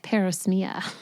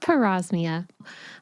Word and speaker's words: parosmia: thing it's called parosmia in the beginning I was calling it permia cuz I didn't know how to pronounce it but it's called parosmia I was like okay it